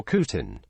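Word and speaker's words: C'tan: In later times, these entities would become known as the Cetin, can be pronounced also like Cetin or Kutin.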